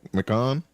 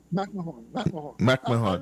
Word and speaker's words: McMahon: You all in the United States have this funny way of pronouncing it, McMahon. Remember Ed McMahon? Yeah, when I had a football player named McMahon, so we say McMahon.